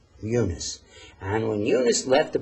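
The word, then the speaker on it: Yunus: Quran that Jonah or his name actually is pronounced Eunice Eunice and when Eunice left the people of NAA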